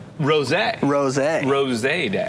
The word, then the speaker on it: rosé: Okay, because it's spelled R-O-S-E. R-O-S-E. Okay. But then it's got a little... So I believe just like, because again, let me help here because I'm sherbet. Right. I believe it's rosé.